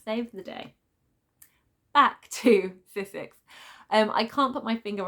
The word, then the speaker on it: Sissix: I'm trying to say her name properly because I've always wanted to say Sixis, and I know that I've been mispronouncing it, so it's Sissix.